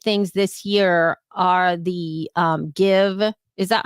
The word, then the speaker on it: GXVE: this year are the Give. Is that how you say it? Give? It's GXVE, but yeah, give sounds right to me.